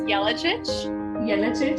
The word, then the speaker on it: Jelacic: but we are friends my last name is really tricky so no worries it's yellowchitch okay where is that original from sorry where is the origin of that uh name from yeah so my husband's croatian so um their letters are different from english letters so they have different pronunciations so that's why it sounds way different than it looks yeah awesome thank you